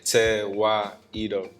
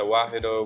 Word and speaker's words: Tewahedo: they should pronounce it they should try to sound it out okay te why edo everybody in miami they're gonna have their own flavor to it so referred to wahido we've heard tweedo we've